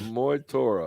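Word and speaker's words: Mag Tuired: Some of them I can pronounce, some of them I can't, but you've got Moi Okay. Torah. All right, a Moy Torah.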